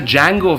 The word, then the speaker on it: Django: D-J-A-N-G-O. The D is silent.